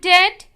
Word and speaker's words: dead: And dead, it's said like bed, not bead.